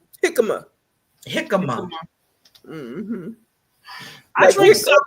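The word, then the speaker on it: jícama: How you pronounce it? Hamaka? Jicama.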